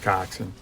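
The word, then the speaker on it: coxswain: Cocksw spelled swing but it's pronounced coxin English.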